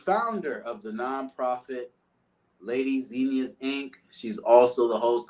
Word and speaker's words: Zinnia: It's the flower. Zinnia. Okay. And I love plants. Let's start over. The founder of the nonprofit Lady Zinnia's Inc.